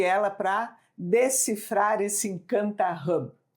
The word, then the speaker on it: Hub: que se chama Encanta Hub. Se escreve H-U-B, mas como a palavra é em inglês, né, então a gente tem que pronunciar direitinho.